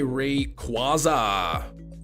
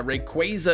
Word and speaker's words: Rayquaza: really need uh third for anything you say Rayquaza instead of Rayquaza yeah Rayquaza is correct a lot of people say Rayquaza